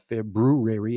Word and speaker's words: February: this um very short month of february of february as it's correctly pronounced um but we'll go give it what